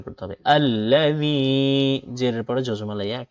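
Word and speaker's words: الَّذِي: এরপর আল্লাযী, জি জিহ্বার আগা সামনের উপরে দুই দাঁতের আগার সাথে লাগিয়ে জাল উচ্চারণ করতে হয়। তো জ জাল সা এই তিনটা অক্ষর, তো এই দা এইভাবে উচ্চারণ করতে হবে। আল্লাযী, জেরের পরে জজমা লাইয়া এক কালিপ টানো হবে।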